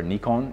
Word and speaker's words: Nikon: over to working with Nikon cameras or Nikon if you want to say it properly in Japanese so my very first